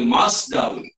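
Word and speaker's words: مصدر: Mim bagi atas, sa yang dibaca bagi atas dimatikan. Okey, dibacanya masdar. Okey.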